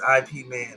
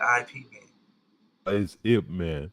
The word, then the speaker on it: Ip Man: you said it right it's ip man not ipv man okay hit me well